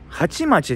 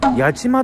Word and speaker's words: 八街: ここが千葉県の八街でもなくハチマチでもなくこれでなんと八街って読むんですよえっと